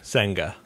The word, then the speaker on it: Senga: his last name again senga senga it's like Saga with an N between the E and the g that was